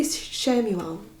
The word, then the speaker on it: Chamuel: I'm going to say Shamuel with a Chamuel.